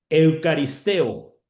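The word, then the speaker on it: εὐχαριστέω: Eucaristeo. Eucaristo. Así entre paréntesis le digo cómo se se pronuncia y dice eucaristeo, que significa ser agradecido, expresar gratitud, agradecimiento, dar gracias.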